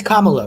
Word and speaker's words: Kamala: It's Kamala, right? Yeah, Kamala. Okay. Everyone called her Kamala, and then she became relevant. So they learn how to say it properly.